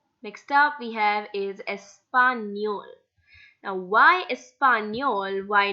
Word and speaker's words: español: The sound it gives is near, español. That's the reason why we are pronouncing this word as español.